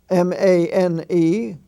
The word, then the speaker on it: mane: you take for example uh maine you have m-a-n-e the main the lion's mane that is all